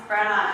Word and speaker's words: Brenna: My name's Brenna, and it kind of rhymes with Gemma.